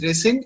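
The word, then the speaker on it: rescind: yes sir it's called resend okay okay it's pronounced as resend and it means cancel or reject the same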